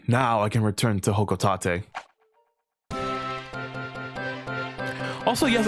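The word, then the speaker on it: Hocotate: Also, yes, I've been saying the name Hokotate because that's how they say it in Super Smash Brothers, and that's the only recorded way they have said Hokotate. I used to say Hokotate because in the second game it rhymes with the job that Olimar's in.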